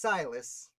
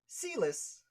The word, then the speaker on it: Silas: years before i found out it was pronounced silas i thought it was pronounced ceelis i don't know why